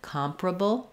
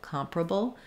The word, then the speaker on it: comparable: is very quick and sometimes it almost might sound like it's not there like comparable comparable it's very reduced we do typically have